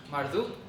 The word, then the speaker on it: Marduk: viajes principales de Babilonia la cual es se pronuncia marduk con c entonces marduk básicamente fue